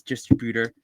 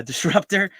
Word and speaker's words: Disruptor: Say that a couple of times, Distributor. And Disruptor. There you go. I said it wrong right there. I got it right now. Disruptor.